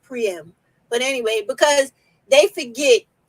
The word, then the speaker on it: Priam: wrong calling him Priam his name is not prime it's priyam but anyway because they